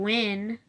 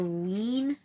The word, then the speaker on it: Wynn: Jim Wynn. Or Ween, maybe. I'm going to say Jim Wynn, though.